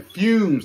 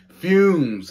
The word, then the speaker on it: Fumez: wrong name wrong i'm sorry man fumes not humans i'm stupid i'm sorry fumes why don't i i don't know why i kept saying funeral like that don't even sound right i guess because of